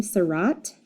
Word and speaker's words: Seurat: Okay, and his last name, Seurat, kind of rhymes with dot.